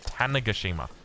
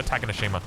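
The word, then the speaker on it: Tanegashima: It's Tanagashima. Tanagashima. T I I still prefer Takenoshima. It just It just rolls off the tongue a little bit better.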